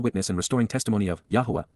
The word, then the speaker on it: Yahowah: For how long, Adma, until when will the eternal witness and restoring testimony of Yahwa, Yahwa, the proper pronunciation of the name of Aloah, God, as directed in